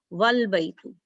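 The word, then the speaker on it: وَالْبَيْتُ: But if Waw is there, then you don't pronounce Alif. You just connect Waw with Lam. Wal Baitu.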